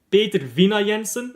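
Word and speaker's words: Peter Vindahl Jensen: Because like the HL at the end of a word you don't pronounce right. And like the D you don't really pronounce either. So Vina? Peter Vina Jensen, if I could remember it correctly.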